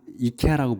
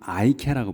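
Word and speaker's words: IKEA: 그 광명시에 들어와 있다고 제가 들었는데 이거를 그래서 여기는 이케아라고 부르지만 그 영어권에서는 아이케아라고 불러요. 아이라고 해.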